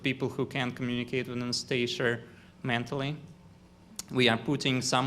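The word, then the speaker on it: Анастасия: In Russian, it is pronounced with the stress on iya. Anastasia.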